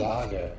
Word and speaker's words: Jagier: Yager, okay. That's the best news I've heard all day. If the lot of us don't die tonight, I'll buy you a drink. Yager.